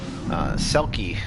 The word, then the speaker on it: Selki: Selki is her Coptic name, like S-E-L-K-I, Selki, and then there's Selkis in Greek.